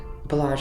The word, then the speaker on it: Balaj: Balaj as in pleasure.